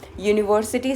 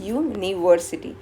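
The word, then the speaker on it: university: तो जब हम यूनिवर्सिटी साउंड करते हैं तो पहला जो लेटर साउंड क्या करता है? वाई करता है। लेकिन हम बोलते हैं क्या है? यूनिवर्सिटी।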